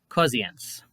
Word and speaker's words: Corrientes: For example, Rio Segundo sounds like Zio Segundo, and Corrientes sounds like Cosiens.